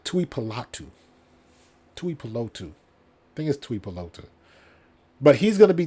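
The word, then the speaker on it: Tuipulotu: streak and ball uh toy palatu I said it wrong Tui palatu but he's going to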